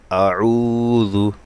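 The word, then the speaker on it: أعوذ: কুল কুল কুল কুল আউজু এখানে আইনটা গলায় নিতে হবে অনেকেরই এটা হয় না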